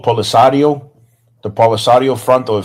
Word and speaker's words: Polisario: I want to make sure I pronounce um correct. Um I think it's called Polisario.